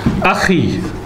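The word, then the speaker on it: أخي: Akhi.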